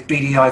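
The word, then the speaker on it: Beadyeye: the agency is called bdi our instagram is bdi photography bdi is spelled b-e-a-d-y-e-y-e rather than the initials bdi uh we're not particularly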